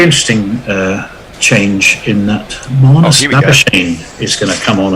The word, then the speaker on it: Labuschagne: His name is unpronounceable. The selectors have no trouble. It's Marnus Labuschagne.